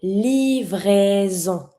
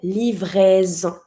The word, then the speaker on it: livraison: A delivery, une livraison. S between two vowels, between my I and my O, so you pronounce it like a Z sound. Une livraison.